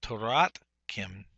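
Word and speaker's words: תורתכם: Remember, this is a non-vocal shava because it's following a short vowel here. So Toratkim is how you'd pronunciate this.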